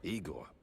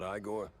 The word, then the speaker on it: Igor: Igor, not Iiggore. No, Eigore.